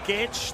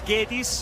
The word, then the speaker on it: Guedes: That's with a Portuguese pronunciation, Guedes. This is Guedes, as they would say in Brazil, but Gaules watching on.